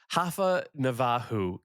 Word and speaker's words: Rafa Navarro: Rafa Navajo is the Brazilian Portuguese way. Okay. Of I call him Rafa Navarro.